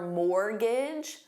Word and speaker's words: mortgage: Did you renew your mortgage? Mortgage, silent T.